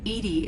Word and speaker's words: EDI: why are you named edie edie is the phonetic pronunciation of e d i that is an acronym